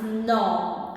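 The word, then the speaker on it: ਨੌਂ: The number 9 is No, as in inauguration, no.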